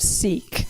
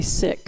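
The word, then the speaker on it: Sikh: from the sick tradition you may have heard that mispronounced of seek but it's actually sick so when I use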